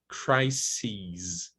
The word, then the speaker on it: crises: the pronunciation changes we change the vowel to the tense vowel e and the final sound is voiced so crisis singular crises in the plural the stress doesn't change okay it's still crying stressed syllable but just to emphasize a second syllable it's c's c's so crises analysis analyses parentheses parentheses